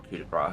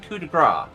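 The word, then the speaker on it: coup de grâce: Also, why am I saying coup de grace? What do I think I am, American? Coup de grace. There's an E at the end, so you pronounce the consonant.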